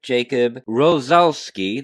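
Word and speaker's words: Jakub Rozalski: Jacob Rosalski.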